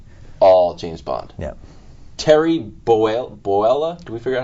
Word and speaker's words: Bollea: Terry Boella? Do we figure out how to say it? Bollea.